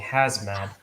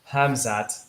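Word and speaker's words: Khamzat: with kobit going on i keep saying hazmat but it's not that i have to really take the time and pronounce his name it's hamzat so um so before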